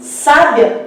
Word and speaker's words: sábia: No caso de sábia, nós temos uma palavra paroxítona.